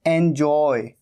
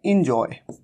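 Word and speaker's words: enjoy: और एंजॉय, एंजॉय, कई बार कई लोग मिस्टेक करते हैं, इसे कह देते हैं इंजॉय। ये इंजॉय नहीं है, यहां पर ई का साउंड नहीं है, बल्कि यहां पर कैसा साउंड है? ए का साउंड, एंजॉय।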